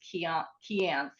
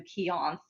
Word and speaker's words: Keanth: So like I know a lot of people, like I've always pronounced it as Keanth, but I know a lot of people will do Keonth or Keanthe.